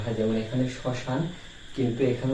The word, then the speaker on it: শ্মশান: তার উচ্চারণ হয় না শব্দের শুরুতে ম ফলার উচ্চারণ হয় না যেমন আমরা দেখতে পারি সানা এই যে শ্মশান শব্দে শ্মশান শব্দে শব্দের শুরুতে এখানে কিন্তু ম